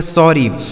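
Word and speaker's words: sorry: लिखा गया एस O double R वाई। तो एस से हो जाता है आपका 100 इस ओ का उच्चारण अ हो जाएगा ऐसे डबल आर है तो कोई भी अक्षर अगर दो बार लिखा होता है तो एक साइलेंट रहेगा एक ही से लिखेंगे तो आर से बन जाता है र और इस वाई से बड़ी ई की मात्रा इसे पढ़ेंगे सॉरी एस O double R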